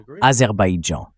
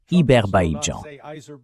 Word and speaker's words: Azerbaïdjan: accord, à ce jour, Trump n'arrive toujours pas à prononcer correctement Azerbaïdjan. Même à Davos, il l'appelait Iberjan.